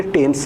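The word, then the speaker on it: Thames: के बीचोबीच बहती है राजेश स्पेलिंग में थेम्स भी पढ़ लेते हैं आप इसे लेकिन इसे टेम्स भी प्रोनाउंस किया जाता है जैसे आप थॉमस बोल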